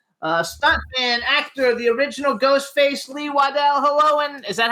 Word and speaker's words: Lee Waddell: Now we want to welcome to the Jimmy Star Show with Ron Russell, stuntman, actor, the original Ghostface Lee Waddell. Hello, and is that how I pronounce it?